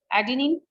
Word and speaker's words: adenine: All of you must know the correct pronunciation. Adenine.